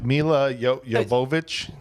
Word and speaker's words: Milla Jovovich: pronounced? My Milla Jovovich.